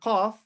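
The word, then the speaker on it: ق: Now this letter qaf, read it. It's pronounced like this. Qa. So qaf. Your mouth is round. It's like there's something inside your mouth.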